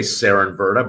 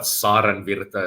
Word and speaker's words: Saarenvirta: And then we have our guest, Saarenvirta. Did I say that correctly? Yeah, you said that very correctly. It's a Finnish name. So most people say Cernvirta, but Saarenvirta is the Finnish pronunciation.